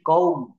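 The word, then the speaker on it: comb: এখানে বলতে হবে বম সি ও এমবি কওম কওম এখানে দেখেন কম্ব বলা যাবে না কম্ব বলা যাবে না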